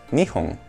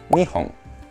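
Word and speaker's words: 二本: poquito más avanzado pero escucha la diferencia dos objetos cilíndricos nihon Japón nión una vez más nión nión nihon nihon sí esto no tiene que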